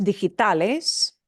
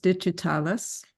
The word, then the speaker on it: digitales: Digitales, mejor, mucho mejor, see? Yeah, again, this is another one of those words your brain so wants to say digital, yeah.